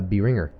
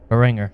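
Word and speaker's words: Behringer: channel mixer by that company that I have a hard time pronouncing uh Binger Binger y b e h r i n g r it's it's really good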